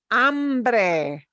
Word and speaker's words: hambre: Here's the word for hunger or hungry, hambre. Hombre. Okay, this word, I want to show you why this illustrates why these vowels are so super important. Hambre, hungry, has a very different meaning from hombre.